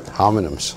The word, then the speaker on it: homonyms: Homonyms. Sorry, did you say something before there? What? Homonyms? Did you say pronounce that with an H, or was it the H silent?